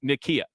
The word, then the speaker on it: Nykia: Wright Nikia right okay so that's how you pronounce her name um Nikia yeah okay I get that Nikia CEO of